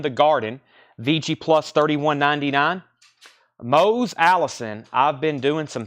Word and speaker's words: Mose: Mose Allison, rhymes with nose.